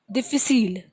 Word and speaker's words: difficile: Okay, now another example for this is disc, and how we pronounce disc in French, we pronounce it as disc. Disc. So it has a soft pronunciation.